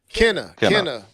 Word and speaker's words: Kena: Of course, I've been playing that Kena. Kenu, is that how you say it, Keith? How you say it? Kena.